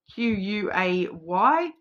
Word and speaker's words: Quay: we've got like Circular Quay in Sydney, which is key is actually spelt with a Q, Quay.